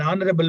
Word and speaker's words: honorable: Note the following words begin with a silent H and they are especially words like R, arly air, Harris, honor, honorable, honest, honestly. They must be pronounced as though there were no H at the beginning.